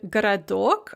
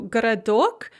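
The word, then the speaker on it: городок: so you can see this in the word garadok a little town or moyla or liana or nina so garadok the first o is pronounced the second o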